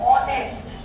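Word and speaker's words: honest: ऑनेस्ट है ना, तो वहां पर भी वो साइलेंट हो गया।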